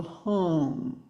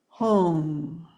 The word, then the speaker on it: Hong: In this case, we received from Rinpoche the sacred syllable Hong. Hong. It's pronounced something like H-O-O-N-G. There's a little bit of long vowel sound, which is very soothing. And we sound the sound Hong, 2 Hongs on each breath.